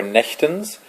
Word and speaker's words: Nächtens: this is the pronouncing guide for nechtens as with osher i will say each line